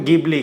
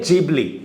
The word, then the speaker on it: Ghibli: Famous है जिबली का, या फिर कहें तो गिबली का। इसका सही प्रोनाउंसिएशन है जिबली।